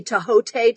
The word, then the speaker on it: Thoth: And when I asked the Thoth Tarot, which by the way, I think would actually be pronounced the Tahote Tarot, but no one ever does.